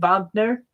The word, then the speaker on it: Wagner: It isn't Wagner, it's Wagner, because it's German. I think they pronounce it with a V, Wagner.